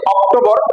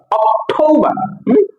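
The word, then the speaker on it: October: September এটাকে আমরা বলি অক্টোবর নট অক্টোবর অক্টোবা অটবা অটবা নভেম্বর এটাকে আমরা নভেম্বর নভেম্বর নভেম্বর এটা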